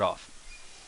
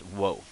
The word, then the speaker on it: を: because you'll find out this character is pronounced o more often than you'll ever hear pronounced whoa so so why are